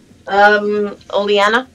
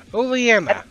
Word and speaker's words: Oleana: I cannot pronounce her name. Oleana. Thank you. I've never been able to pronounce her name. Oleana.